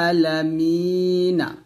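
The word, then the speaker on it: العالمين: জবর না রব্বিল আলামিনা যদি আমরা এখানে ওয়াক্ফ ধরি তাহলে নুনটা সাকিন হবে আর এখানে আমরা তিন আলিফ টান দেবো এরকম ভাবে রব্বিল আলামিন এরকম অর্থাৎ মেয়ে তে তিন আলিফ টান দিয়ে নুনটাকে সাকিন করবে এটাকে বলা হবে মধ্যে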